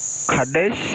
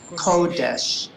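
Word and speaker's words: קֹדֶשׁ: Kadesh. Nice. Except it's a cholam on the top of the kuf, makes the ko. Kodesh.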